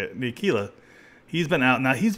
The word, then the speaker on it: Ntilikina: Now the Knicks, Frank Ntilikina, I think that's how you say it, Ntilikina, he's been out.